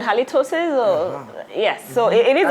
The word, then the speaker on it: halitosis: It's halitosis. Oh. Yes, it's actually a medical condition. Oh, yeah. Okay, Chile, what do you think? Halitosis disease is a very serious disease.